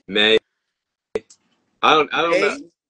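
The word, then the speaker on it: Maye: say his last name may I don't I don't know yeah it's May but like it's spelled like m a ye yeah okay so Drake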